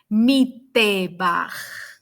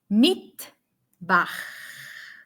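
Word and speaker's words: מטבח: Okay, so we do not read mitbach. No, we don't read mitbach. We just pronounce the sound t, t. Once again, mitbach.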